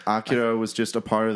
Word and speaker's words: Akira: Akira or Akira. Akira is the right way to say it.